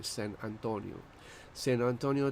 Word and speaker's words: San Antonio: Let me pronounce it the right way. San Antonio, Texas, before they were used.